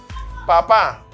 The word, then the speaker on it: papá: Papá, papá, café, francés. ¿Comprenden? Papá, café, francés. Ahí se ve, los acentos están sobre la última sílaba.